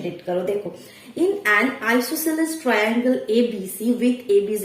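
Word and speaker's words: isosceles: अपने मन से इसको मैंने प्रोनाउंस किया आइसोस्केल, और उसी तरह से 3-4 साल मैंने चला दी आइसोस्केल। फिर मुझे पता चला रही ये तो आइसोस्केल नहीं है, ये आइसोसेलेस है।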